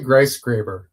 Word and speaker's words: Griesgraber: Okay, how do we pronounce it then? I say Griesgraber.